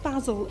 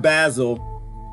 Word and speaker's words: basil: Instead, special lighting is helping this crop of basil and dill to grow. First of all, it's not basil. Everybody knows it's basil. What's wrong with y'all, UK? They pronounce everything wrong.